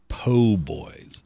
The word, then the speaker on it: po' boy: It's po' boys. Po' and that's spelled P-O apostrophe boy.